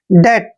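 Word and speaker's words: debt: डी ई बी टी जब भी टी से पहले बी आता है वहां पर बी हमेशा साइलेंट रहता है यानी बी का हम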